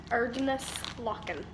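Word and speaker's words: Erdnußlocken: That weird character is pronounced like an S. Erdenlocken.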